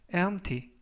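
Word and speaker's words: empty: 표현이 되겠습니다 일본 표현은 mta mk arte 라고 발음 하시면 되겠구요 이 때 유의하실 점은 p 알파벳 p 가 이번 단어 에서는 묵음 은 아니지만 발음할 때 발음이 거의 나지 않습니다 그래서 엠프티 가 아니라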